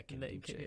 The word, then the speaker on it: Nkemdiche: Yeah, Nkemdiche. Okay. The Because I N remember is silent.